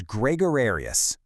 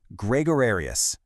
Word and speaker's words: gregarious: Today's word is gregarious. Kind of fun to say, right? Gregarius. Let's make sure we've got the pronunciation down. It's Gregorius. Say it with me. Gregorius.